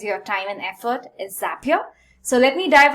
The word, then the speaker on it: Zapier: see is a zapier the name zapier according to the founders is because it rhymes with happier so that's how we pronounce it and essentially it's a